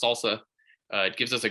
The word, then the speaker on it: SLSA: levels for software artifacts it's abbreviated slsa and it's pronounced salsa uh it gives us